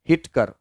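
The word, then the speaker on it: Whittaker: हिटकर, हिटकर नाम है, हिटकर, हिटकर, वाह को साइलेंट रखना है, हिटकर।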